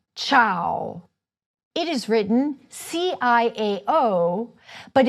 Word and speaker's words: ciao: You would say CIAO. It is written: C-I-A-O, but it is pronounced as if there were an "h" after the "c."